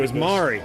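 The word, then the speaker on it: Mairi: So it turns out Myri's name was Mari.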